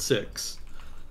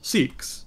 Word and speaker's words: Sikhs: as an aside it's actually supposed to be pronounced sikhism and adherents of the religion are called six uh but we here in the united states